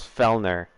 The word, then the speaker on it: Fellner: But my last name is Fellner, so it's like an L and an R and then an R sound at the end, and they just, I